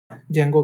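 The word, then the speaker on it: Django: जेंगो कहते हैं, डी जेंगो, डी इसमें साइलेंट होता है, जेंगो कहते हैं पाइथन में जाना है तो।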